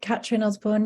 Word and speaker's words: Catrin Osborne: Am I pronouncing your name correctly? Yeah, Catrin Osborne, yeah.